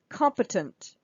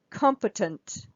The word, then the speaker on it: competent: at the next one competent competent so again the first syllable here is stressed so the O is stressed but then listen come we've got two schwas here competent competent competent